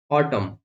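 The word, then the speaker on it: autumn: पर साइलेंट होता है कि एन एम के बाद आता है, यानी कि एम के बाद अगर से एन आएगा तब भी हम इस एन का प्रोनाउंस नहीं करेंगे, जैसे कॉलम, डैम, हाइम, ऑटम।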